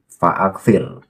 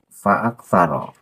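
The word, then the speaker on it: فأكسر: Fi'il amar ini aksaro yuksiru. Jadi faaksir. Aksir ini fi'il amar. Allah memerintahkan kepada Nabi Musa, maka ia harus dibaca jazm dan aksir itu mengikuti wazan af'il. Bahar membacanya faaksaro lah itu salah, tidak tepat.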